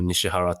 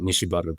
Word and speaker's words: Nishibaru: is Nishibaru Guua or Nishihara town. I call it Nishibaru because it's the traditional pronunciation. So Nishibaru and Guya. is the proper Yeah. pronunciation. Yeah. Nishihara is the Japanese.